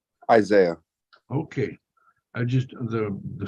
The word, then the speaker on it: Isiah: morning how do you say their first name Isaiah okay I just the the spelling here is